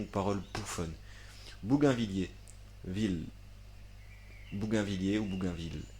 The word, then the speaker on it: Bougainvillier: Bougainvillier, ville, Bougainvillier ou Bougainville. Non, ça se prononce ville.